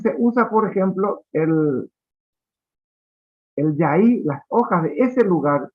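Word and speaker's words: jai: a decir en guaraní, se escribe en guaraní actual con J-A-I, para lo que le gusta la Y, puede escribir con la Y, no hay problema. Yaí, así como suena A-I.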